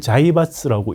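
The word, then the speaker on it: 財閥: 그 한자로 재벌 똑같은 한자를 자이바스라고 읽죠. 우리는 재벌로 읽고 사실 그래서 우리한테 재벌이라는 게 일제시대부터 잘 알려졌던 이야기예요.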